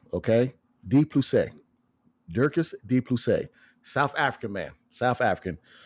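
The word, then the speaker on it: Dricus du Plessis: Dirkus de Plessis, okay? De Plessis. Dirkus de Plessis.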